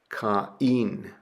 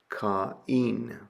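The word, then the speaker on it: Κάϊν: You pronounce the two letters separately. So ca caen caen.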